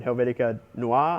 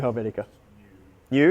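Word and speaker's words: Helvetica Neue: to that weird one, Helvetica Noir, I think it is, or Nui. I'm not sure how to pronounce it. It's the new Helvetica. New? It's just new? Okay. There you go. Helvetica New.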